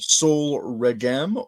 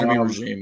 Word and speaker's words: Sol Regem: pronounce and I and it will be called Soul regm or soul regim or regim yeah I don't know it's not regime it's not regime yeah